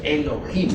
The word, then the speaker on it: Elohim: eloh o mejor dijéramos Elohim porque la H se pronuncia como J estos eloh como qui